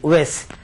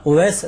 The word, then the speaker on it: اویس: وہ جاننا چاہتے ہیں۔ حضرت اویس قرنی کی نسبت سے نام ہے اویس، نام صحیح اویس۔ اویس بھائی سن لیں، آپ کے بچے کا نام اویس صحیح تلفظ رہے گا جی۔ اور فقیر محمد